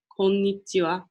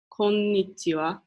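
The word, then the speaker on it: こんにちは: of day right now it's afternoon you'd say konichiwa so I'm gonna announce it again just so you guys can hear it konichiwa and that is again how to say hi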